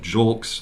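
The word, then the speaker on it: Julks: with the man and he pronounced that jolks like it's like it's written j-u-l-k-s he is a Houston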